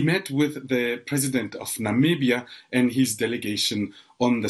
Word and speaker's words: Namibia: Namibia is the country Donald Trump could not pronounce back in 2017 when he met with African leaders referring to Namibia as nambia quite several times that was followed by